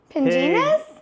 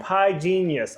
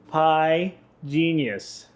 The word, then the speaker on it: Pigenius: Uh, penis. Pig. Oh, pi genius. Oh my goodness. Could I actually speak? Pie genius. Yeah, pi genius.